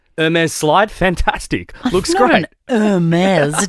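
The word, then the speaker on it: Hermès: slide fantastic looks great heres drop the H the H is silent but not I just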